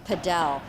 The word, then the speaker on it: padel: what you're looking at is a game of padell padell is one of the fastest growing racket